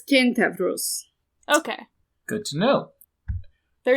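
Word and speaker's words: Κένταυρος: If you want the actual pronunciation of the Greek word for centaur, it's Kentavros.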